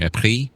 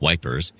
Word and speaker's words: Ypres: English soldiers stationed near Ypres, which they mispronounced as Wipers, in Belgium found an